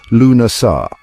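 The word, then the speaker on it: Lughnasadh: This was Lugnasad, pronounced Lunasar, the festival named in honor of the god Lu.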